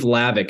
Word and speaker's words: Hlavac: my name is lavik it's spelled h-l-a-v-a-c the H is silent which is tricky um but on Instagram